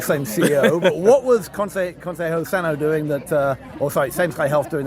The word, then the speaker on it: Consejo Sano: All right, Matthew Holt with Abner Mason, who's the CEO of Consejo Sano, which I finally correctly pronounced just in time until the name is changing.